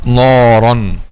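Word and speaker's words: نارا: So وَمَنْ يَعْصِ اللَّهَ وَرَسُولَهُ وَيَتَعَدَّ حُدُودَهُ يُدْخِلْهُ نَارًا خَالِدًا فِيهَا, not نَارًا.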